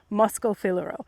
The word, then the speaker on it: Moschofilero: can find the Butari Moscofilero, it's spelled Moschofilero, Moscofilero.